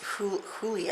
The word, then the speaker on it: Hole: It's spelled Harry Hole, but it is pronounced Huli, I believe.